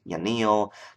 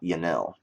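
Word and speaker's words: Yanille: Neil yanil so that's pronounced yanil not yanel um xanis is going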